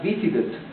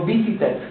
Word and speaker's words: visited: que yo voy acá, el truco de la pronunciación es que voy hasta acá, digo visit, pero no digo visited, como uno, como estudiante hispano, uno lograría hacerlo, no, visited. Entonces la E tiene el símbolo del vacío fonético, mira, no se pronuncia, ¿okay?